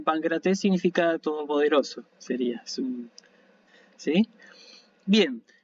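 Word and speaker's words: Παγκράτης: Así que esto se pronuncia pancrates con la N, ¿sí? Uno hace un sonido de N, pero lo tiene que escribir como gamma porque la presencia de la letra siguiente me obliga a hacer.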